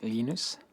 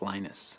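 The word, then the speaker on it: Linus: lenus or lonus what's the exact your preferred pronunciation um when I speak Swedish it's lenus when I speak Finnish it's lenus when I speak English it's lonus and I really don't care how people pronounce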